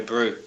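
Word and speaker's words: Brau: Maui Firm or Maui Brew. B-R-A-U, Maui Brew. So that's, M-A... I think it's spelt like you'd say Maori, the New Zealanders, the Maoris, M-A-O-U-R-I.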